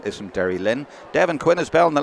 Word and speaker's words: Derrylin: And you might notice him falling into the local dialect, Derrylin. They don't even bother pronouncing the Y, as far as I know anyway.